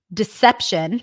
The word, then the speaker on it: deception: Deception, primary stress is on se, not this one.